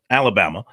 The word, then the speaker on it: Alabama: USC Georgia Alabama Alabama it's not three still Alaba not an extra syllable in there Alabama and Virginia Tech are